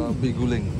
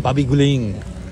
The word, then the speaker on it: Babi guling: How you pronounce the name? Babi guling. Babi guling.